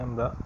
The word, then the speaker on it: あ: কেমন আছো সবাই? আজকে আমরা শিখব জাপানিজ হিরাগানা বর্ণমালার প্রথম বর্ণ আ। জাপানিজ বর্ণমালা আ দেখতে অনেকটা আপেলের মতো এবং এর উচ্চারণ হচ্ছে ফাদারের মধ্যে এ যেভাবে উচ্চারণ হয় ঠিক সেরকম, ফাদার, ফা, আ, ঠিক সেরকম।